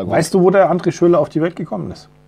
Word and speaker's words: André Schürrle: Ich habe es falsch ausgesprochen. André Schürrle.